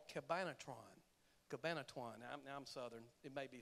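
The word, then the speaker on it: Cabanatuan: and the largest one was called Cabinet Ron Cabana tuan I'm southern it may be some other pronunciation but it's called cabana chuan and it was the largest POWs camp and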